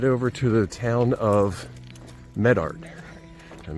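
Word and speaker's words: Medart: to the town of Medard, and make sure I say that right. On the first syllable.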